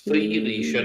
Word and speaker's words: Felicia: Okay, it's not Felicia. Felicia. Felicia. Felicia, God. Felicia. And it's hard to say, and I understand it, but we need to say her name right. You're right, Sound it I don't out. think- Sound it out. It's F-E, not F-A.